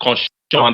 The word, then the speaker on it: cochon: Please, it's couchon, but it's better to avoid that word for a beginner because there's another word that means that sounds like that, which is pronounced cochon.